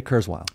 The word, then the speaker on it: Kurzweil: sorry how do you say his name ray kurzweil ray kurzweil so he said by in 1990